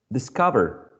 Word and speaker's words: discover: would be this so cover is already stressed in the syllable discover you keep the same and if you follow the general rule cover is a two-sible word in general two syllable words are stressed uh on the first syllable cover so then when we add this prefix we're just keeping the stress on the same syllable that we have before okay so that this